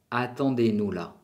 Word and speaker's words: attendez-nous là: Espéranos ahí, se dice attendez-nous là. Attendez-nous là. La Z no se pronuncia.